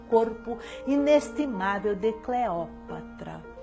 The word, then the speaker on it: Cleópatra: Ponde tento na acentuação deste vocábulo, senhoras amazonas, pois muito nos pesara não preferisseis conosco essa pronúncia condizente com a lição dos clássicos, a pronúncia Cleopatra, dicção mais moderna e que alguns vocabulistas levianamente subscrevem, sem que se apercebam de que é ganga desprezível, que nos trazem com o enxurro de França, os galiparlas de má